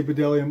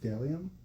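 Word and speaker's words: Bdellium: The B is silent. No, it's Bedellium. But uh I used to say Bedellium all the time.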